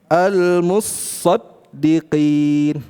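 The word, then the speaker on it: الْمُصَّدِّقِين: Nah, Imam Hafz membacanya dengan idgham. Gimana cara bacanya? almusaddiqin. Loh tan-nya ke mana? Dimasukkan ke huruf shad.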